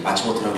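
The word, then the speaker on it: 松本: 1923년 동아일보에 실린 기사 경성의전의 일본인 학생 동독생에게 칼질이라는 기사를 보면 송본이라고 쓰고 이제 마츠모토라고 읽는 거죠.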